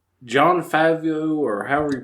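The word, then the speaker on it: Favreau: John Favio or however you pronounce it. Fio. I I'm horrible pronouncing his last name. John Fabro.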